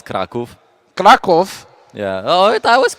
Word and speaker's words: Kraków: It's gonna blow your mind, but it's Kraków.